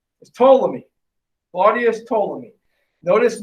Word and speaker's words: Ptolemy: person is a guy don't pronounce the p is ptolemy body has told me